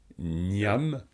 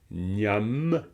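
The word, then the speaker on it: གནམ: C'est-à-dire que ici, vous allez prononcer cette syllabe gnam parce qu'il y a le son ma derrière.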